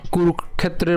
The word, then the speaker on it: কুরুক্ষেত্রে: করি ধর্মক্ষেত্রে একই রকমভাবে কুরুক্ষেত্রের মধ্যেও কি রয়েছে তাহলে এখানেও একই রকমভাবে কয় উচ্চারণ আমরা আগে করব। এরপর হচ্ছে মূর্ধনসকে নিয়ে আসবো। তাহলে উচ্চারণ কেমন হবে? কুরুক্ষেত্রে।